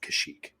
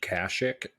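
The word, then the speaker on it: Kashyyyk: in the Battle of kashyyk is it kashyyk or kashik well we had one guy who commented on one of our things and he was like it's pronounced kashic but it's here's the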